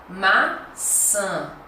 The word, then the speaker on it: maçã: E a próxima, maçã, maçã. Perceberam? Então, maçã. Então, tem que fechar, tem que fazer o nasal.